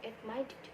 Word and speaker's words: admitted: Admit, ketika ditambahkan id, cara pelafalan id-nya itu menjadi id, sehingga admit menjadi admitted.